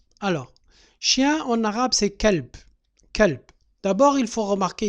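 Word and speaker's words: كلب: Entre le L et le B, il n'y a pas de voyelle. L, B, il n'y a pas de voyelle. Et le B aussi ne porte pas de voyelle. On peut mettre un E, kalb, mais c'est une voyelle muette aussi.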